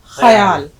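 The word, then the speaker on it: ख़याल: अब देखिए हम लोग अक्सर करके होता है लफ्ज़ बोलते हैं ख्याल, सही उच्चारण क्या है? ख्याल.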